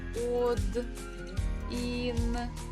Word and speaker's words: один: So the stress actually falls on E, and O is unstressed, so we pronounce it as letter A. But we have to spell it while we're writing with O. But just reading with A.